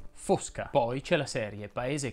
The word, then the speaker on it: Fosca: diego cominciamo dalle certezze fosca si pronuncia con la o chiusa fosca poi c'è la serie